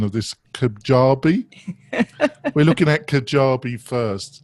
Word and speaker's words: Kajabi: then I apologise about the pronunciation of this Kajabi. We're looking at Kajabi first. Did I do a reasonable job pronouncing that? You did. It's Kajabi. Kajabi.